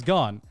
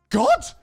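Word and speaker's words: Garnt: a gacha addict and people calling his name wrong. My name's Garn. And the second time, God? Your name's God?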